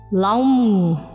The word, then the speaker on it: LAM: the genitals at anus chant the sound L A M pronounced like this laum laum laum narito pa ang additional